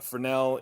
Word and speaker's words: Fresnel: french that's why it has a silent s there a fresnel is a light that